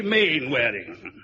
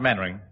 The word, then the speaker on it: Mainwaring: You must be Mainwaring. Oh, how do you do, Colonel? Actually, it's pronounced Mannering.